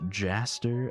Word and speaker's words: Gaster: It's actually pronounced Jaster. Oh my god. Gaster with a J. Gaster had a J all along.